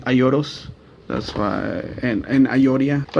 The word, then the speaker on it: Aioros: euros well actually spell iolo's iolo's i don't know how you pronounce it in English but if you know in Japanese pronounced the L like an R so it's actually a euros that's why and I